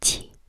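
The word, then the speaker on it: 七: Think about the word cheese, but instead of ch, you make the ch, ch. So make it behind your teeth instead of ch, like towards your teeth. Make it slightly behind. Qi, qi, and it's spelled Q, I, Q, I.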